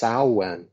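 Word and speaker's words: Samhain: celtic words you said i've heard it pronounced sauwen and apparently the sal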